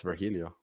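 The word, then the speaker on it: Virgilio: well it has it has a mexican pronunciation it's vergilio i mean if you want to stretch it that far sure yeah what did i say that's literally what it's supposed to be apparently but yeah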